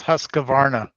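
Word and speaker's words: Husqvarna: And he says Tom was saying it right. That's Husqavarna.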